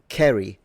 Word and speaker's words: carry: Um, Kerry rather than carry. So, the the short a sound was still pronounced in this man's time and all the way up to the queen still, although probably at that time it was already starting to become a little bit of an old school pronunciation.